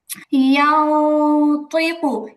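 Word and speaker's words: يَنْطِقُ: ইয়াও তুইকু, ইয়াও তুইকু।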